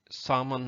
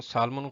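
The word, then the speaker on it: salmon: सामन fish, सामन अक्सर इसको सालमन कहते हैं लेकिन एल साइलेंट है उसमें।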